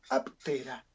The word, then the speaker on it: Aptera: Sí, se escribe así. Nada de U, no. Aptera. Aptera, como suena.